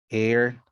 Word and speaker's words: heir: when to pronounce h the h sound is never pronounced in these words most of them came into english from french norman french to be more precise our honor heir honest vehement exhibition number two